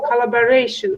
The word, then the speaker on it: collaboration: That movie was produced in collaboration with Steven Spielberg. You see, Olga, when you pronounce it very well, your communication, you see, I said communication, your communication is better.